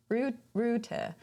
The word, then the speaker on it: router: Ruta. Yeah, but you don't pronounce the last R. It's there.